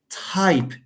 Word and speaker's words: type: This one here is pronounced type t and then a small h, okay? And then ipe, type t, h, ipe.